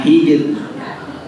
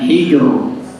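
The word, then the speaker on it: حِجْر: Di situ dibaca tipis ya. Karena sebelum jim di situ ada huruf ha yang berharokat kasrah ya. Di cara bacanya hijr. Jangan hijr. Jangan tebal tapi tipis.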